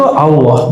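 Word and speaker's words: الله: Jadi A tapi cenderung kepada U. A cenderung kepada U, bukan Allah. Tapi Allah. Bacanya A tapi lidahnya ngarah ke U.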